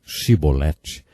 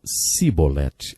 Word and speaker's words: chibolete: regiões do nosso país eles não conseguiam pronunciar os sons CH e por isso diziam simbolete ao invés de chibolete Jefté degolou 42 mil